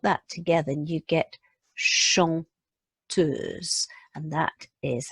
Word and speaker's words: chanteuse: and you put that together and you get chanteuse, and that is how it is written phonetically, chanteuse.